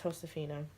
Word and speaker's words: Josefina: And that's how you pronounce her name, is Josefina.